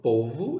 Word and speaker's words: povo: sílaba tônica ou vô o é mais forte que eu falo povo e não povo ó então eu vou contar